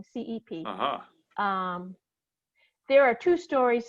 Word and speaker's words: Cep: of harper lee with casey sepp i think is how she pronounces her last name cep um there are two